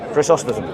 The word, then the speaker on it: Chrysostom: I read John of Chrysostom. Yeah, is that how you pronounce his name? Chrysostom.